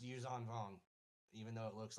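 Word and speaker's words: Yuuzhan Vong: But it is pronounced Yuzong Hong even though it looks like Jean.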